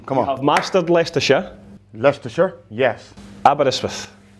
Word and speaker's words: Leicester: Leicster.